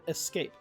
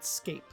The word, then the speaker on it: escape: in it you pronounce the E so in this case he should have said you cannot Escape Escape but he doesn't say he says you cannot Escape okay um yeah so